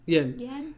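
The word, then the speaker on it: Yan: Yen. Yeah, he says yen. Yeah. It's spelled Y-A-N in the description or in our subtitles, but he says yen.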